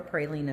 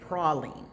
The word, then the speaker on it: praline: It's actually a French word, and the way that it's actually pronounced is praline.